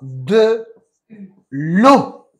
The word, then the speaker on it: eau: Tu boiras de l'eau. De l'eau. Y de nuevo se escribe E-A-U, ¿vale? Pero se pronuncia O.